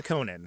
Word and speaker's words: Conan: to my eternal Chagrin I was born a Conan okay but I chose to become a there it is okay that's great and then how pissed were you when Conan O'Brien started a podcast not well when he